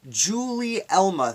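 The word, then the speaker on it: Gulielma: Her name is pronounced Julie Elma. Thank you, Mr. Troy. Julie Elma. Okay, that makes sense. Like the debate between Gary and Jerry.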